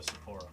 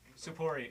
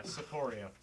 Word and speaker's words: Sapporo: I need to go to Sapporo. Sapporo? You heard me right. I know that there's big giant You mean green Sapporia? Sapporo. Oh, did I say it wrong? You did. Yeah, Sapporia.